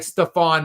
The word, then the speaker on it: Stephon: But it is Stefan, not Stefan. So we do have, like, Stephon Marbury is the way that it is pronounced.